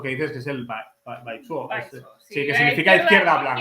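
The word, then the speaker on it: 白左: Aquí son más tradicionales y aparte hay una palabra despectiva, peyorativa hasta límites insospechados sobre eso que dices que es el baizuo.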